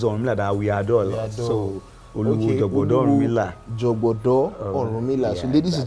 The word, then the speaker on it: Oluwo Jogodo Orunmila: Okay, so pronounce it for us. Yeah, so my name is Oluwo Jogodo Orunmila.